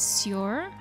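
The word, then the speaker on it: Sjór: Sea is Sjor. It sounds like you're soaring, which reminds me of the sky, but it's not sky.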